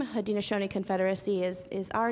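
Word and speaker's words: Haudenosaunee: mayor McGriff mentioned I belong and she we pronounced it very well had Shoni people um it's more commonly known as the six nations of iroy but that was our French given name had Shoni Confederacy is is our name and we are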